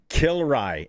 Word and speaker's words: Kilrye: Kilrye is how you pronounce the volleyball player's name.